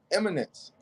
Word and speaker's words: Eminence: First of all, how do you pronounce the name of this card? Eminence.